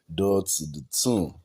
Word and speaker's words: Dotun: Yeah, or how do you pronounce the man? Dotun.